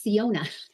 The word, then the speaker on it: Syona: so funny it's it's ciona like Arizona CA and it means